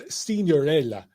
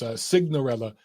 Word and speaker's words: Signorello: Johnny Sig, and it's Johnny Signorello, but in Italian it's Signorella. It sounds so much prettier in Italian than English, but it's Signorella on social.